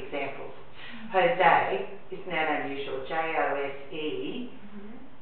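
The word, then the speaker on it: José: J-O-S-E is pronounced Jose. It's that little mark over the E, and I don't know what language it is. This form of J. It makes it say I. Could be Spanish, yeah.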